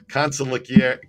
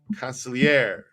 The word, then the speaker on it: consigliere: Back to Consigliere. The accent is on air or year. Consigliere.